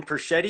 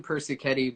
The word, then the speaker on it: Persichetti: And this week, I have the pleasure of speaking with Perschetti. Is that how you pronounce the last name? Last name Persichetti, but okay.